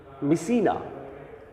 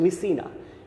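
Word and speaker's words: Mycenae: ইউরিস্থিয়াস উচ্চারণটা দেখো ইউরিস্থিয়াস, হ্যাঁ, ভুল উচ্চারণ করা যাবে না, তাই তো, ইউরিস্থিয়াস দ্য কিং অফ মিসিনা, উচ্চারণটা ধরতে পেরেছ আশা করছি, মিসিনা, ইউরিস্থিয়াস দ্য কিং অফ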